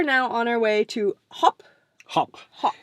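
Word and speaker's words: Höfn: on our way to hop hop hop it doesn't spell like that but it apparently it pronounces hop but there's a massive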